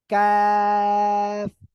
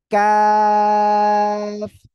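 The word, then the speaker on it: ق: ওকে এই যে অক্ষরটা এই অক্ষরটা হলো কাফ জিহ্বার গোড়া গোড়া থেকে একটুখানি আগে বাড়াবেন বাড়িয়ে এই অক্ষরটা উচ্চারণ করতে হবে কাফ সবাই একসাথে বলেন তো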